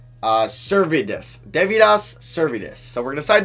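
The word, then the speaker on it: Deividas Sirvydis: Okay, it's pronounced Devidas Servidis.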